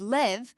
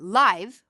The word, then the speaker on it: live: is happening right now we would pronounce that word live so that it would rhyme with dive but if we pronounce it live we mean to be alive did you hear how